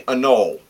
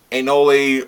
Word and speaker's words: Anole: is on them and particularly anole or ainoli or i call him i pronounce it a null one of the young